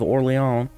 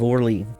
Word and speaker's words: Orléans: his brother Louie of oron and I realize you know it's pronounced oron but with his name being Lou I want to pronounce it Louis of orle doesn't make any sense